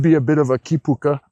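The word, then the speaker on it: kīpuka: place as you say, help me with the pronunciation again, Kipuka.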